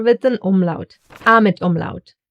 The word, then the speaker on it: Ä: And here is also the third letter with an umlaut, A mit Umlaut. It gets pronounced as A. So basically like a long, loose, relaxed, and chilled out E. Like for example in head. Head.